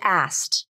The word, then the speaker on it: asked: And asked. You can drop the K in asked.